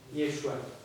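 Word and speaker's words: ישוע: Em hebraico, nós escrevemos assim o nome de Jesus e pronunciamos Yeshua.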